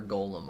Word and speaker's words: golem: armor probably golden probably you can pronounce it either way you want but i say gollum personally gollum from lord of the rings and then golem like the tower golems golems all right chat